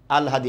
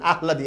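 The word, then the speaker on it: আহ্লাদি: কি হবে আল হাদি ল টা পরে আছে না ল টা আগে চলে আসবে আল হ আকার দ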